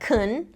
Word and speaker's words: can: So can sounds like kun, and can't sounds like can't.